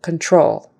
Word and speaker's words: control: Quality quality control control emphasis is on the second syllable control and that Con in